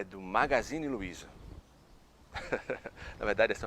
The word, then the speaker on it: magazine: Agora, revista é magazine, magazine.